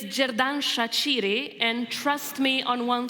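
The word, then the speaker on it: Xherdan Shaqiri: We call probably the best player of the team, Sheridan Shakiri. Tell us how do we pronounce him correctly? It's jerdan shachiri and trust me on one thing we have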